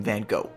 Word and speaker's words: Van Gogh: way in this video we're pronouncing his name van go because that's easier and it's how people usually say it but the real Dutch pronunciation is actually van however you say his